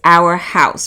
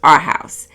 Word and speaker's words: Arhaus: At first I thought the name was Our House, but it's pronounced Arhaus. They're known for sustainability, using reclaimed wood, hand-forged materials, and partnering with artisans around the world.